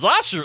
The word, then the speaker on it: Yashu: Hey Trey, Misa name pronunciation is Yashu in case you were wondering.